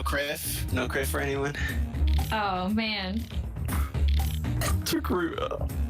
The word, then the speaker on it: Togruta: Togruta. So Gruta rhyming with Achuda works out great.